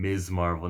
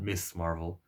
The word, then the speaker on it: Ms. Marvel: And by the way, I just pronounced her name Ms. Marvel, not Miss Marvel, everybody.